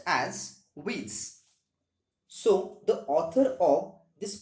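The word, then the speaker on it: Wyss: with w y w s this particular word pronounced as widths so the author of this famous novel is johan david witz and this novel was first published in 1812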